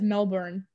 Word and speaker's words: Melbourne: that's one word I taught, like, everyone says Melbourne. Yeah, Melbourne. Like, yeah, and I'm like, okay, so just say it like bin.